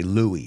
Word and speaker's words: Louis: You say Luis, we say Louis. La S no lo pronunciamos.